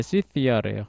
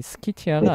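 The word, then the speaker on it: Scythia: 이거 스키티아인데 이거 그 일적이 뭐냐 발음이 뭐 시티아라고 하더라. 시시티아. 아 시. 예. 시티아래요. 그래서 어이 스키티아가 아니구나.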